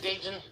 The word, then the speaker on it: Dayton: Hope we have a good show tonight, Dayton. And see, he pronounces the T.